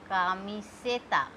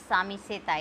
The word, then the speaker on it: camiseta: And if with A, camiseta. Camiseta. Ka, mi, se, ta. It is not samiseta, it is camiseta.